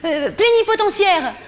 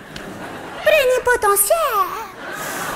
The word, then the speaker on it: plénipotentiaire: Plénipotentiaire. Celui-là, il a un truc génial parce qu'il s'écrit potentiaire, ça se dit potentiaire. Plénipotentiaire.